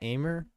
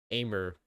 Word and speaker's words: Aimer: I still don't know how to pronounce it because the French is like ma, right? Love or like those. And then aimer. How everyone else says it. But that's amr is it not? That's aimer. Pretty sure it's a though. I think she pronounced the amr too. I don't think I've ever heard her call herself a.